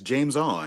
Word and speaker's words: Jamison: You talking about Jamison? No. You've got it wrong. It's only 2 syllables, sir. It's James On.